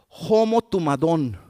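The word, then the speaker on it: ὁμοθυμαδόν: Y la palabra unidos aquí es una palabra griega, es la palabra homo tumadón. Homo tumadón es la palabra, así se pronuncia, pero es una palabra griega.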